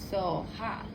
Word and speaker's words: soha: TARE, Too-tah-ray, TURE, So-hah.